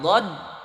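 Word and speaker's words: ض: Dod hurufnya cuma satu dari ihda hafatay lisan, di sisi lidah sejajar dengan geraham bagian atas. Dod sisi lidah sejajar dengan geraham bagian atas. Dod do kedengarannya bulat.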